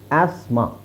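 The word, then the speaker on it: asthma: ಎರಡು ಒಟ್ಟಿಗೆ ಸೈಲೆಂಟ್ ಆಗುತ್ತೆ ಟಿ ಮತ್ತೆ ಎಚ್ ಆಸ್ಮ ಆಸ್ಮ ಅಂತ ಹೇಳಬೇಕು ಈ ಇಲ್ಲಿ ಮೂರು ಅಕ್ಷರ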